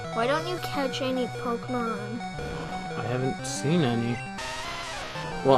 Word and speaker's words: Pokémon: Do you not know there's an accent over it? I don't know what those mean. They're to change the way the letter's pronounced. That's the whole point of them. That's why it's not Pokemon, it's Pokemon.